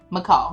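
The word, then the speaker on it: Michal: McCall we going to call her MCL. It's spelled M I C H A L.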